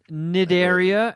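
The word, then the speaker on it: Cnidaria: in the phylum snideria c is silent nidaria and the class is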